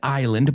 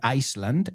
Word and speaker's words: island: So they come to an isolated island. Vamos a pronunciar esta palabra, por favor, porque mucha gente dice Iceland, and Iceland es un sitio, pero no es como decimos isla. Es Islandia, right? So, island.